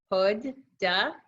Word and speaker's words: Huda: you'll see that I taught readers how to pronounce my name right there so I've got my hood duh ISA pada ISA I never used to do